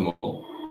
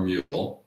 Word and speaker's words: Mull: So, from the Isle of Mull, Mull, Mull, or Mule... Three potential pronunciations of said island in the Western Hebrides, but this is Lunch at the Lighthouse, 42.36.